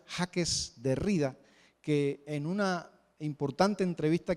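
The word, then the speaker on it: Jacques Derrida: a un filósofo judío francés su nombre se pronuncia jaques de rida que en una importante entrevista que le hicieron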